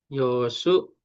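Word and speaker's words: 予習: Ya, benar ya, Yosu ya. Nah, masalahnya, Yosu itu sunya kan dua nih. Sunya. U-nya kan ada nih. Nah, itu antara satu sama dua.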